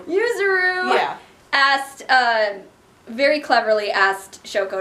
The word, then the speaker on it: Yuzuru: I got her name wrong! Yuzuru.